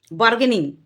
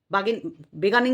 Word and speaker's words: বার্গেনিং: উচ্চারণ এইটা একটা আছে আজকে যে ভুল কথাটা বলল ভুল মানে ওটা উচ্চারণই করতে পারলো না সেটা হলো বার্গেনিং যেটা আমরা দরদাম যেটা বলি দরম করি তো জিনিস কিনতে গেলে দরদাম করি সেটাকে বলি আমরা বার্গেনিং তো সেই বার্গেনিংটাকে ও বলছে বেগানিং নাকি বার্গেনিং বার্গেনিং আরটা